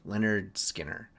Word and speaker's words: Lynyrd Skynyrd: Simon and Garfunkel, Bookends, Lynyrd Skynyrd, pronounced Lynyrd Skinner.